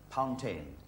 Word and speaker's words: Pountain: Pountain. You pronounce it like... It's like a fountain that begins with a P.